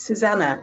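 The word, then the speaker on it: Susanne: My name is Susanna. It's German, so it's pronounce the E.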